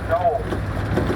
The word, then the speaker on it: dhole: The third species we're going to see out here are the dholes. Now that's spelled d h o l e and it's pronounced like the final syllable of banana.